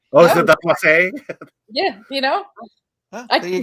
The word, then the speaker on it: Plasse: Is it the Plasse?